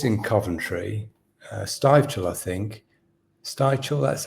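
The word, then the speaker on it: Stivichall: Stivechel, that's how you pronounce it.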